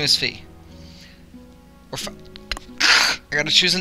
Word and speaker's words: Fi: name right now I I'm so used to calling her fi but I know everyone pronounces it fee it's it'll be it'll be fee I'll call her fee I'll get accustomed at